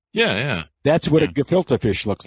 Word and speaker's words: gefilte: Is that pronounced right? The gefilte fish?